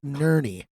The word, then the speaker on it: Ner: week's drinking brother week was submitted by Joe Nery I would like to nominate my father for